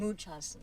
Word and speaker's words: Munchausen: Munchausen.